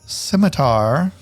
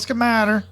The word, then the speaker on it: scimitar: So Goblin 2 is going to pull out its pronounced scimitar You mean to not call us schematter? It's not called a schematter.